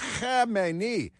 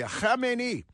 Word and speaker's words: Khamenei: They're radical Islamic terrorists, and that from the biggest leader in the country, the Ayatollah Khamenei. Pardon me, you get any on you? Anytime you pronounce the Khamenei, you should maybe put up a shield of